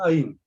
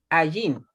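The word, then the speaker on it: עין: Y se Miren, pronuncia Ain. si tú usas una transliteración anglo, se va a escribir ¿Mm? Ayin, pero se va a pronunciar Ain, Ain, ya.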